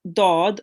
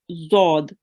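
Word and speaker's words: ضاد: left or both sides it is a mistake to pronounce it like the letter dal okay so um do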